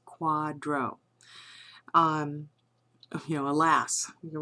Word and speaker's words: QDRO: A quadro um that says QDRO that is the acronym for qualified domestic relations order. We as per as as I noted pronounced that as quadro.